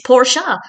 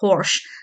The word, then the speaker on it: Porsche: And Ross comes along at one point and talks about the Porsche, to which Joey replies, "It's Porsche," which, to be honest, is probably the first